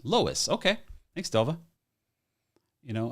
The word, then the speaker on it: Lois: um all right uh Lois Lois like Lois Lane got it I think